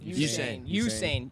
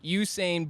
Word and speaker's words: Usain: is close to who I always say his name wrong Hussein yeah Hussein Usain bolts speed I want to